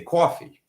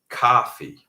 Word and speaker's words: coffee: For example, in New York, we would say coffee, which is not coffee, which technically should be flat. We say coffee. Do not copy that. Do not say that unless you're sure you want to have a New York accent.